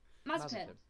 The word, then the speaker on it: Mazepin: But how do you pronounce it? Mazepin. Mazepin. Yeah. There we go. Mazepin.